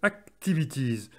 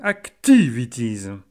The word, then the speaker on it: activities: Notez comment l'accent tonique se déplace de la première syllabe dans active à la deuxième dans activities.